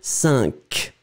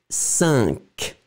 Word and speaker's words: cinq: This one, Q, final Q is pronounced, so cinq. First one, cent, second one, cinq.